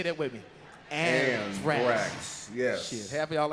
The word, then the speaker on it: anthrax: That Ajax. You don't even know how to say it, man. That Ajax is cleaning motherfuckers out, ain't it? Learn how to say it before you die. It's anthrax.